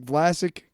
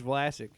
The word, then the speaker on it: Vlasic: Our pickleballs are the winning combination of that classic Vlasic crunch and bold flavor. Good job, marketing team. Classic rhymes with Vlasic.